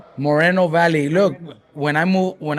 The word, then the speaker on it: Moreno Valley: going to say uh Riverside, but we're in Marino Valley. Valley. Never heard of Marino Valley. Is it? How do you pronounce it? Moreno Valley.